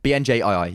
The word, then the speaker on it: BNJii: Is it just pronounced Benji? No, BNJII. You have to say that every single time.